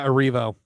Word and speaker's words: Erivo: is how do you say her name Cynthia Aro yes Cynthia Aro very passionately she it's very clear how she